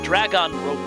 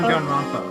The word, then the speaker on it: Danganronpa: Dragon Ropa, I think it's how it's Oh, pronounced. Danganronpa? Danganronpa.